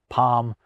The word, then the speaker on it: palm: You need them because otherwise you'd have pal and folk, but there is no L sound when I say them. Palm folk.